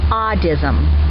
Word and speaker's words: audism: Okay, the word is audism. Audism. Spell it, please.